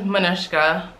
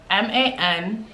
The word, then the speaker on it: Manushka: My real name is Manushka, Manoushka. That is my real name, Manushka. It's Russian, but Haitian. It's a common Haitian name, but it's spelled in a Russian way.